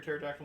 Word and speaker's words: pterodactyl: you can't hear dennis how come he can't hear a pterodactyl in the bathroom why because the p is silent how come you can't